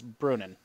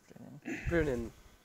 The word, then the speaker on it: Brunnen: and the commercial town, or whatever you would consider it, is Brunnen. Brunin. Not Bruges. No, not Bruges.